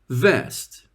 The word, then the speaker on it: vest: a vest please repeat vest be careful that's not West is a direction the opposite of East in English we pronounce the V using the top teeth and the bottom lip like this again hmm